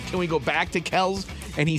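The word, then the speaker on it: Kelce: you know we've been saying Jason and Travis Kelsey's last name wrong this whole time what is it kelky it's Kels Kels just simply Kels well not anymore yeah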